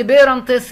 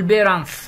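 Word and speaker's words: parents: ابناء الاحفاد، جريت جراند بيرنتس اللي هم اجداد الاجداد، وبيرنتس اللي هم الوالدين، وما بنطقش حرف التي على فكره، قول بيرنتس بس، بيرنتس ينفع يعني، تمام؟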